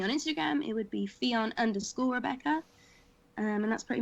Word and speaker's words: Ffion: pretty much just under my name Theon Rebecca which is spelled f-f-i-o-n it is Welsh blame my mother not me but um be on